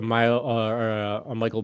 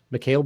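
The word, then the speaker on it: Mikal: And I remember seeing like a Michael Bridges, Mikhail Bridges. How do you say his first name? Mikhail Bridges.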